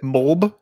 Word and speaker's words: MLB: the show and this still had me it's pronounced mulb M mulb the show 24 I was surprised